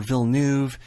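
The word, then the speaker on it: Villeneuve: the one who again explained that the EU becomes the OE sound in French that doesn't make much sense to us but it makes sense if you know French and again when we don't have a sound in English we're we're forgiven if we get close to the pronunciation so if you say V or VN as long as you're in the ballpark it's acceptable so my last source is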